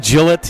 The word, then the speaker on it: Gillette: It's like Gillette and Gillette. It's Gillette. It's not Gillette.